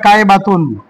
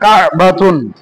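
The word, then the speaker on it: كعبة: যদিও বা এইরকম হয় কায় বাতুন, কিন্তু আমাদের আরবি উচ্চারণ করতে গেলে আমাদের কায় বাতুন হবে না, কা বাতুন।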